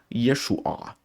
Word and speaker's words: Yeshua: observar na escrita hebraica, não é um A, é uma letra Ain, que é uma letra gutural, então você tem que fazer Yeshua.